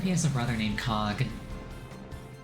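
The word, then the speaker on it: Coge: I wonder if he has a brother named Cog. like a cog also spelled with an E at the end.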